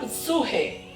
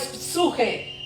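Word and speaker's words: ψυχή: Bueno, en griego se le llama ah se llama psuje. La palabra alma en griego es suje. Se escribe p de Pedro, s de sol, u, j de jarro y e.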